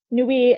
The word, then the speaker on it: nuit: So soir, nuit, matin, nuit ends with a T, you're not going to say it.